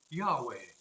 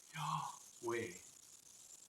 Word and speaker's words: Yahweh: It was the name Yahweh. In English, we often translate it as I am who am. However, in Hebrew, the word could be uttered by inhaling the first syllable and exhaling the second, so as to imitate our very breathing.